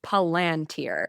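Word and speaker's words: Palantir: Tolken head because it's Palanteer. The LAN is where the emphasis is supposed to be not the pal and Peter Teal is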